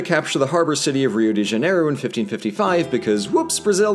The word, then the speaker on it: Rio de Janeiro: make very little sense, apparently Rio de Janeiro is supposed to be pronounced Rio de Janeiro. And to that I ask one question, and that is, what did the letter R ever do to you guys?